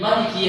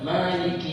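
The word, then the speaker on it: مالك: Kemudian ayat Maliki Yaumiddin ini bisa dibaca dua. Bisa dibaca ma yaitu dua harakat, panjang dua harakat, Maliki Yaumiddin itu benar. Kemudian dalam riwayat yang lain bisa dibaca Malik, dan qiraah yang lain bisa dibaca Maliki Yaumiddin.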